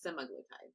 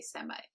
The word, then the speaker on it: semaglutide: It's semaglutide. Semaglutide. Yeah. That's why I want to say semi-glutide.